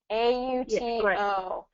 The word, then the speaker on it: auto: a AO AO so the T becomes a d pronunciation because it's surrounded by vowels AO AO so get